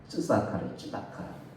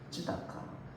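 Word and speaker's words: צדקה: 쯔다카. 조금 발음이 어려운데 쯔다카.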